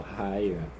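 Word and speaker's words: Haigha: He pronounced it as to rhyme with mayor. So hier.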